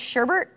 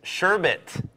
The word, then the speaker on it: sherbet: one there it is Teresa orange Sherbert it is sherbet what are you from